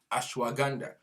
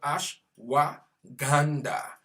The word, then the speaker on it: ashwagandha: Ashwagandha, that is the name of that product. Ashwagandha. Ganda like Gandhi. Ash like ash.